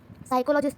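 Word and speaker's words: psychologist: कैसे बताओगे कि जो अब्राहम एच मास्लो था, ये एक अमेरिकन साइकोलॉजिस्ट था। पी साइलेंट है, तो साइकोलॉजिस्ट था।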